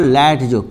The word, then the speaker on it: Latzko: This is called Latzko. K is silent.